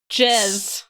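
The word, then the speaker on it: JezzBall: in case anybody's confused j e z z jazz jazz and let's say it correctly ball it is a very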